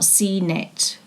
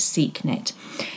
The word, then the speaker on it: SeeKnit: He specifically said it is pronounced seeknit and not cnit because he'd had a conversation, an email conversation with the company and they explained that it's seek knit.